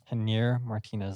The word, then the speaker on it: Javier Martinez: Yeah, I believe that you pronounce his name Janier Martinez. Javier Martinez.